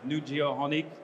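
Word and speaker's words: Nujio'qonik: coast of of the island of New Finland pronounced new geoh honik as you'll see there we are a large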